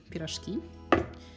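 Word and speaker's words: pirozhki: But there's also the Russian version of pierogi, which is pronounced a little bit differently, peerozhkee.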